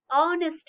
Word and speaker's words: honest: have to use and while this h will sound like a vowel such as an owner will not say honor that time it will be wrong pronunciation it will be what an honor an hour an honest man so whenever you release